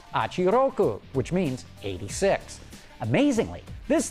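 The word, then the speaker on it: Hachi-Roku: The first of these is the FT-86 concept car, which Toyota says is pronounced Achiroku, which means 86.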